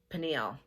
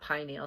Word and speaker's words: pineal: Or I've heard other people pronounce it pineal. I was always taught pineal, so that's what I'm going to refer to it as.